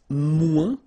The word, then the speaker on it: moins: Then if you want to say less, it's moins in French, so no discussion about the S here. Don't pronounce it, okay?